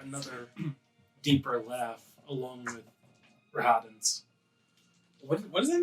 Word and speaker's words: Rahadin: fog, you hear another deeper laugh along with Rahadin's. What is that name again? Rahadin? I might be saying it wrong because I'm not looking at it. Rehadi.